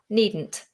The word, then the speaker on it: needn't: with needn't it's nice needn't needn't needn't just have to let it explode into the nose it's a tricky one